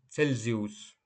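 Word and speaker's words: Celsius: співати знген 26те правило німецька буква Ц читається як це перед голосними е та І наприклад Цельсій цель цельзіус в інших випадках вимовляється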